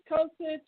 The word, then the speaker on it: Kosich: Kosich.